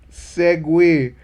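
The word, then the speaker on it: segue: e-y no sir how do you pronounce that segway and i don't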